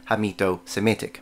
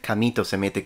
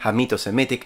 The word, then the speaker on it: Hamito-Semitic: also used the term Hamito-Semitic. Although I think I did mispronounce it on that video and I said Camito-Semitic with a K, that is because that's how we say it in Italian, by the way.